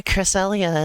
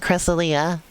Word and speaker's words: Cresselia: to pronounce because I I flip-flop between Cresselia and cressalia cressalia is what I always said as a kid and then I heard people say cressalia so that's how I